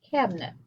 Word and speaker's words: cabinet: for the letter i if you have an i in the middle of the word and it appears to be an open syllable it will most likely sound like an if or an uh for example in the word cabinet your cabinets at your